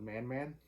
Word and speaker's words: Man Man: uh i went with man man i believe that's how it's pronounced it's m-a-n-m-a-n i assume